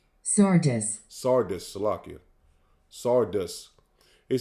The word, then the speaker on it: Sardis: Let me make sure I pronounce it. Sadius. Sardis.